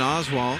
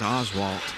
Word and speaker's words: Oswald: brought to my attention I've been pronouncing his name name incorrectly for two or three years I apologize for that as Oswalt I've been saying Oswalt I'm not sure where